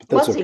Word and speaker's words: Mussey: Mussey. Okay. Mussey. I got to change the vowels in that so I say it right.